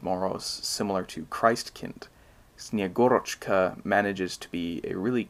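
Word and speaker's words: Snegurochka: is another one called snyagorochka which i insist on pronouncing like that because it just sounds a lot better than snagarachka snyagorchka is the snowmaiden who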